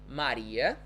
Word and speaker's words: Maria: so we would say maria right so anytime the letter r comes between two vowels we're going to say it's the vibrating sound so so far so